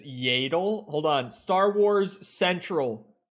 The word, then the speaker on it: Yaddle: pronounce it am I even gonna find a pronunciation uh it's yadle hold on Star Wars Central Master yaddle explained